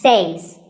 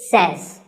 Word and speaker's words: says: number two is says this word is commonly mispronounced by people learning english as sayings but remember i say you say but he or she says number three is etcetera